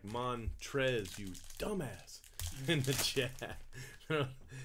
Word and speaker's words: Montrezl: I don't know, Montrezl? How do you say that? Montrez. How do you, Montrez? What the hell's the L doing at the end?